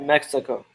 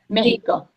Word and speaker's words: México: No, soy de Mexico. México.